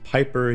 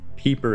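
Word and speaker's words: Pieper: the work of professor joseph piper joseph peeper everyone pronounces that one differently my name is smith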